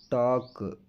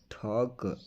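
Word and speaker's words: talk: ಅದಕ್ಕೆ ಬ್ರಾಕೆಟ್ ಅಲ್ಲಿ ಕನ್ನಡದಲ್ಲಿ ಕೂಡ ಹಾಕಿದೀನಿ ಯಾವ ರೀತಿ ಉಚ್ಚಾರಣೆ ಮಾಡಬೇಕು ಅಂತ ಹೇಳಿ ನಡೆದಾಡು ವಾಕ್ ವಾಕ್ ಜನಸಮೂಹ ಫೋಕ್ ಫೋಕ್ ಮಾತು ಟಾಕ್ ಟಾಕ್ ಇರಬೇಕು ಶುಡ್ ಶುಡ್ ಆಗುತ್ತದೆ ವುಡ್ ವುಡ್ ಆಗಬಹುದು ಕುಡ್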